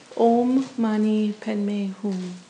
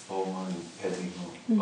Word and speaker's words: Om Mani Padme Hum: Om Mani Padme Hum. Om Mani Padme Hum.